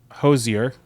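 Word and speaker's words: Hozier: Hosier.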